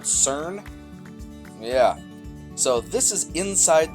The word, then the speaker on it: CERN: france does anybody know it rhymes with burn like like burn reminds sounds like burn sweden starts with a c called cern yeah so this is